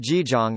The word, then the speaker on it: Jijang: Kṣitigarbha, pronounced Jijong in Korean.